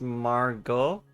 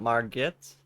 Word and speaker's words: Margot: directing and bad acting let pronounced Margo not marget or Margot and thank you for